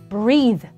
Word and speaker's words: breath: e를 붙이셔서 breathe. 읽는 발음도 다릅니다. breath 짧죠? breath. breathe 더 길게 빼주셔야 돼요. 왜냐면 뒤에 e가 붙기 때문에 그렇습니다.